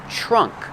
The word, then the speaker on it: trunk: trunk trunk that's right make the TR sound with a CH trunk this is the trunk